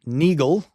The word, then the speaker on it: Neagle: It involved a US marshal named Neagle, right? Spelled like beagle but with an N, who shot and killed a man to protect Supreme Court Justice Steven Field.